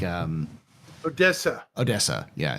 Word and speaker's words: Odessa: like it's not actually odia it's like it's spelled like um Odessa Odessa yeah it's Odessa yeah OD Odessa is